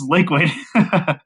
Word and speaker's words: LiKuid: do you not know how to say this liquid but uh yeah I don't know it's kind